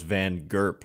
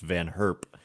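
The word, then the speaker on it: Van Gurp: on like team Netherlands I always thought it was Van gerp but it's I think pronounced van herp anyway that's beside the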